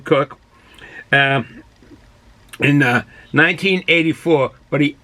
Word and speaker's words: Koch: by a jim cook koch is pronounced as a cook um in 1984 but